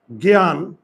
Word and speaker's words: জ্ঞান: না এই যে দেখো তাহলে এই যুক্তবর্ণটা যদি শব্দের প্রথমে থাকে তাহলে উচ্চারণে আমার এটা হবে তাহলে এই যে গ এর উপর চন্দ্রবিন্দু আর জ ফল আগে বুঝো আর এখানে আকার আছে আকারটা আমি নামিয়ে আনলাম জ্ঞান ন এর নিচে